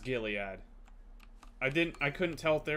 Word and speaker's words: Gilead: It is pronounced Gilead.